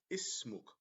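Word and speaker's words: اسمك: So the sukoon separates the two syllables.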